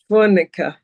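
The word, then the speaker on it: Fojnica: This currently place is called, I gotta pronounce it right, Fornica in Bosnia.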